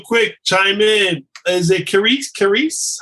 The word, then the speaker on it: Keris: Is it Carice? How do you say your name? Yeah, it's Karis. Karis, how you doing? Karis like Paris. Hey, first of all, thank you so much for the presentation.